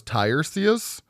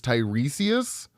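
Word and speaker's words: Tiresias: I thought it was Tyrus, but it's Tyresius.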